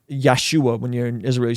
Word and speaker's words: Yeshua: the Messiah and then they don't say his name right so they say it is almost as a slur like yeshu yeshu like like don't say